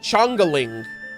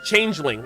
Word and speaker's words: changeling: Is it Is it pronounced change? Is it Is it Chongaling? Is it Chongaling or is it changeling? Can't I don't know how to pronounce it. Oh, it's changeling.